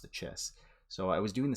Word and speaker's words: Chiss: And I always tend to revert to that hard CH sound whenever I say, kissed.